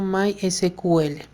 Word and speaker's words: MySQL: base de datos llamados my esquivel o como a veces muchos lo pronuncian como mysql este equipo está conformado